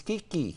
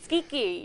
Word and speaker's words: Schicchi: show you were just telling me how to pronounce it I'm gonna let you handle that John nice Kiki Kiki yes yes well that's the second part the